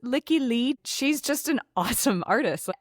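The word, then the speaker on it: Lykke Li: I'm going to explain why these two songs are a couplet in a second, but also I think you pronounce it Licky Lee.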